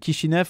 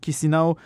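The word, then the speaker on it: Chișinău: C'est une sorte de bande avec pour capitale Chisinau ou Chisinau selon les prononciations.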